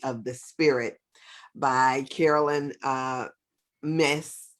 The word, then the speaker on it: Myss: the Spirit by Carolyn Mace. Mace. Mace. However you want to say it, right? Miss, but it's spelled Myss, as you can see right there.